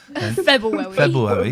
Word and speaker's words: February: February.